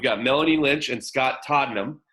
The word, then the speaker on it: Todnem: We've got Melanie Lynch and Scott Todnem. I had to ask how to pronounce the name. I said it right, correct, Scott? Oh, yeah, you got it.